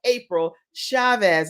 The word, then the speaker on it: April Chavez: And you guys, we are having the best time today because it is totally a celebration in honor of April Chavez.